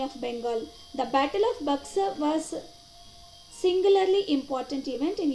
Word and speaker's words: Buxar: It's not Buxar. You have to pronounce as Buxar.